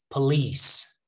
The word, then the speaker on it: police: the second syllable occur police not paul okay please police almost like please please help me here